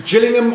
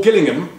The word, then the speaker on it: Gillingham: and welcome back to gillingham or gillingham depending how you say it by the way